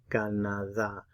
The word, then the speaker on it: Canadá: Put the stress on the last syllable where you see the accent mark in this word. Canadá. Canadá.